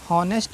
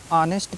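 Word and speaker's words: honest: है ऑनर पढ़ना है नेस्ट नहीं पढ़ना है ऑनेस्ट पढ़ना है ठीक है क्योंकि ओ से पहले एच आया है तो उसका उच्चारण नहीं करना है ठीक है उसको उसको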